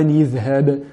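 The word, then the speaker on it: اذهب: À ce moment-là, on doit dire بِالْوَادِ الْمُقَدَّسِ طُوًى إِذْهَبْ طُوًى إِذْهَبْ إِلَى فِرْعَوْنَ بِالْمُقَدَّسِ طُوًى إِذْهَبْ إِلَى فِرْعَوْنَ.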